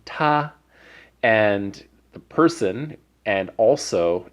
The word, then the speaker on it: 他: we have Donkey Kong so we know it's first tone Tarzan's we know the word in red there is the pronunciation tah and the person and